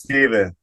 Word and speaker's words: Stephen: some people say Stephen some people say Stefan everybody says Stephen it's spelled the same right but you like Ste you like Stefan well my name is Stefan that's what I was told all right I'm just